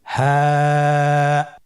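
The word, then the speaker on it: ه: হ্যাঁ, হা হরফটি উচ্চারণ ক্ষেত্রে অবশ্যই বারিক হবে এবং এক আলিফ টেনে পড়তে হবে। আপনারা আমার সাথে বলুন হ্যাঁ। হ্যাঁ হরফটি উচ্চারণের স্থান কণ্ঠনালীর শুরু হতে, অথবা আমরা যদি আরবিতে বলি হলকের শুরু হতে এই হরফটি উচ্চারিত হয়। কণ্ঠনালীর শুরু থেকে উচ্চারণ করুন হ্যাঁ।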